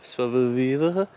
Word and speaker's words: savoir-vivre: Pamiętaj o savoir-vivre, zbieranie grzybów. Jak to się wymawia?